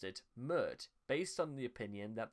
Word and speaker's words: Pmurt: he initially pronounced it mert based on the opinion that the p is silent when his name is spelled backwards however in eid murde